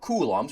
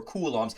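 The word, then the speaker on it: coulombs: That's how you pronounce that. You don't have to write out kulums.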